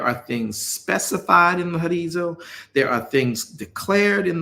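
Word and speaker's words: ὁρίζω: As a matter of fact, the word is the Greek word G3724, which means horizo, or pronounced as horizo, which means a place that is marked out or has bounds.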